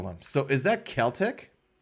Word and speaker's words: Celtic: The word Celtic, I guess now, can be pronounced with either K or soft S.